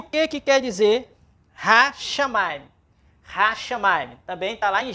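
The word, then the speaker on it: השמים: A sílaba é ra, chá, ma, im. Hashamayim.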